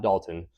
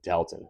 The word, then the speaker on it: Dalton: So I passed through places like Canal Fulton, Masselin, Dalton, not Dalton. I used to live in Masselin and worked in Worcester. So I'm I learned it's Dton. I've never seen anyone else pronounce it correctly on any Ohio Eerie Trail video.